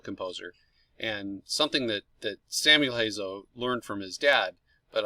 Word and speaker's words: Samuel Hazo: composer whose name is samuel hazel he hails from pittsburgh pennsylvania got his formal music training at duchenne university it doesn't sound like the way it's spelled but that's how it's pronounced um he has actually